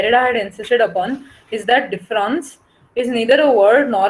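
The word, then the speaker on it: différance: himself in the fact that the a in difference is only red but cannot be heard and therefore the french were difference the english word of difference and difference uh spelled with an are pronounced the same so what derida wants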